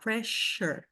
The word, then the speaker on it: pressure: Então, por exemplo, você tem escrito com dois S's com som de SH. Pressure, pressure, mission.